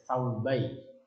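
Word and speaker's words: ثوبي: Kalau lafaz zurnya ini tidak ada alifnya atau tidak ada alif lamnya, maka bacanya bukan saubi sekarang, pakai saubai, pakai tasniyah. Barusan saya lihat dalam kitab hijau saya.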